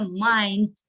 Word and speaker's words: mind: The creativity means. Не mean, произносится mind.